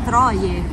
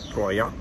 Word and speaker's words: Troyes: In realtà è Troie. O Troia. No, Troie. Troie. Roberto, stasera andiamo a Troie. Sicuro che si pronuncia così. Abbiamo scoperto da un francese che si pronuncia Troia.